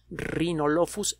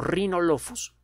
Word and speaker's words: Rhinolophus: de de murciélago herradura el nombre formal del género es rhinolophus la efe se escribe como ph rhinolophus rh y en el